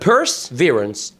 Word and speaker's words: perseverance: السبيلنج ربنا يعينك فيه، بس تعالى اقول لك النطق ممكن ازاي تنطقها. محفظة بتاعت السيدات يعني ايه؟ purse، مش كده؟ وهنزود عليها حتة اسمها ايه؟ verance. يبقى perseverance perseverance perseverance.